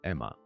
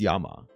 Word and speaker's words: Yama: It's not Emma. Whoa. It's Yama. Okay.